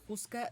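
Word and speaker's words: Houska: quieren buscar en internet juca se escribe h o u s k a castillo de juca en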